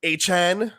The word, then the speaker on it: Achane: problem for this offense as we saw Devon a Chan apparently as we need to start pronouncing hn and Raheem moster combined for eight